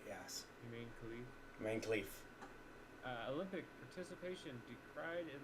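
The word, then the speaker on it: Imane Khelif: Is spelled the same. Iman Khalif. Iman Khalif. Iman Khalif is right, yes. Humane Khalif. Iman Khalif.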